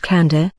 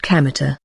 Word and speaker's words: Kamita: is kamita he said it's written with the characters for God Kami and field God's field but it isn't pronounced Kanda as you might expect it's pronounced kameter thus Kino first learned